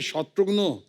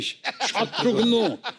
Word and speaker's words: शत्रुघ्न: मिसाल के तौर पे मेरे बंगाली फ्रेंड अभी तो मुझे कहते हैं कि अरे शत्रुग्नो कैमोनाशी शत्रुग्नो डॉक्टर नो का भाई बना दिया है।